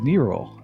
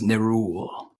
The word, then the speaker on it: Nerull: joining me today is Nero of a the blood rock clean I think I still butchered your name go ahead and correct me gree boss this is new rule there we go new rule I knew I butchered